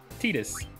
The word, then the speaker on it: Tidus: sign this no prob Titus and it is pronounced that's how they say in Kingdom Hearts and in Dissidia take it easy